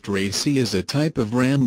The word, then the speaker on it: RACI: RACI pronounced RACI is a type of REM that derives its name from the responsibility designation that's given to each role activity combination.